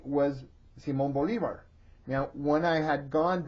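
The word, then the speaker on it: Bolívar: about him um and he was Simon Boulevard to my father um but when I corrected him and said no dad you pronounce it Simon Bolivar I got in big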